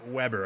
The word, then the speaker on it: Weber: It's funny because in my brain, I'm always remembering I say it wrong. So it is Weber. Okay, that's what I have to remember. It's not what it looks like.